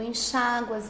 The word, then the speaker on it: enxágua: Então, se você fala, por exemplo, do verbo enxaguar, eu enxago, isso aqui é uma paroxítona terminada em ditongo, tá vendo? Tem acento. Tu enxáguas, ele enxágua, eles enxaguam, para que eu enxague, para que tu enxagues.